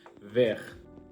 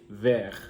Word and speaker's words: vert: Vert. Again, you can see how am I emphasizing the pronunciation of R here. Vert.